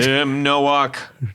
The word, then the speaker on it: Tim Nowak: I think it's Tim Nowak. Well, that's right. I think We're going to say it right. You said it right. Tim Nowak.